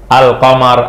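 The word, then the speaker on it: القمر: asyamsu jelas jelas enggakah jadi kalau alif lam Qamar maksudnya Apa maksudnya Alif lamnya dibaca alnya Dibaca lamnya kebaca Al Al Qamar alkitabu Al apaagi Alba albabu albabu Al Mayu almau Al kurursiyu jelas dibaca alnya kedengaran enggak alnya kengan kedengaran kalauin ini kalau yang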